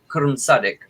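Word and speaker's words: Qu'rrmsaddic: I'm at a loss as to how to spell that. Q-U apostrophe R-R-M-S-A-D-D-I-C, Sadik.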